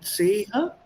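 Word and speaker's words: Zehe: हाँ, Zeha. Right. Die Seha. Z नहीं. S. Yes sir. Yeah, Z is pronounced as T and S together. Remember? S. Yes sir. Die Seha.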